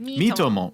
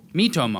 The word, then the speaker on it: Miitomo: Miitomo. Miitomo. It's like me and then Tomodachi.